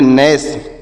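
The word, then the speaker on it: gnash: इस तरीके से पढ़ेंगे जी एन ए एस एच तो इसे क्या पढ़ेंगे जी साइलेंट है तो इसे नहीं पढ़ेंगे तो इसे क्या पढ़ेंगे एन ए से पढ़ेंगे न और एस एस से पढ़ेंगे श तो इसे पढ़ेंगे नस इसे क्या पढ़ेंगे नस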